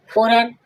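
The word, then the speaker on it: foreign: फॉरेन फॉरेन means विदेश जी के बाद जब एन होगा तब जी का साउंड नहीं आएगा। जी का साउंड साइलेंट रहेगा।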